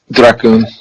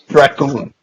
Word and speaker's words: Dragoon: Please help me pronounce it right. Dracoon. Dracoon. Yep. Kind of rhymes with raccoon.